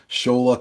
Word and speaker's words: Shola: So I'm like, Shola Cola. Just remember that.